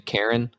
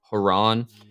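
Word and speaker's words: Charon: by it's c-h-a-r-o-n uh I think the proper way to pronounce that is Iran or some people say Quran or some people just say Karen and but it's actually haran and if you've ever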